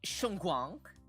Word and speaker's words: Xuanguang: Shunguang, shuang, like there's a slight shuang, like a wong, shuangguang, Sure, no problem.